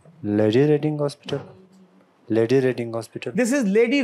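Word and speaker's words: Lady Reading Hospital: Paris यनो अच्छा जी आगे क्या है जी लेडी रेडिंग हॉस्पिटल लेडी रेडिंग हॉस्पिटल this लेडी रेडिंग हॉस्पिटल this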